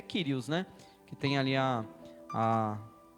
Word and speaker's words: Kyrios: Ele tem o som do R, né? Então é o Rho. Então ele é o Kiri. Ali, no caso, está Kyriakos, que é Kyrios, né?